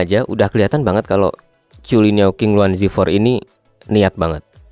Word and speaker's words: Zhulinniao: Tulisannya Zulinhao ya, tapi setahu saya ini bacanya Chulinhao.